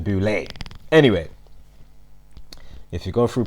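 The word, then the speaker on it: Boulé: the E because obviously without it it's actually that will pronounce it boo Lee yeah rather than boulay anyway if you go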